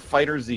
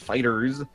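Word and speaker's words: FighterZ: But they showed off, in order, Ni no Kuni 2, Dragon Ball Fighters, I think is how it's pronounced. It's not Fighter Z, it's Fighters.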